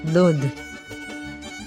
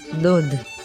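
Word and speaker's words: דוד: And as you can see, the letter Vav has the nickel sign for the vowel O, as in the word off. So this word is pronounced as Dod, Dod.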